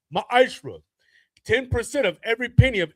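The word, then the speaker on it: מעשר: You can find this in numbers 18 to 21 in Malachi 3 8-10 means 10th in the Hebrew is pronounced maishra.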